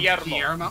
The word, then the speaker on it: Guillermo: Give us the proper Tinks pronouncement. Okay. Okay, hold on. Guillermo. Guillermo.